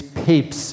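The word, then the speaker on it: Papez: So another important figure in the history of research on emotion is this um scientist named James Papes it's pronounced papes uh and he was the first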